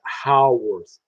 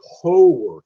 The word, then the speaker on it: Howarth: So, my grandfather's name is Ernest Eugene Howarth. Well, that's the way we pronounce it, Howarth. You can also say Howarth.